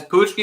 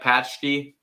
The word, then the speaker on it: paczki: you sure yes guys pushki is Pucci right not like patch key or epoxy is pushki yeah I think this